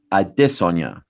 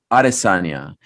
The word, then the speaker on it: Adesanya: um the the the the real and authentic way to say his name is adesonya i've asked him on air and all that however everyone has remained uh with with uh with arizonia and funny you bring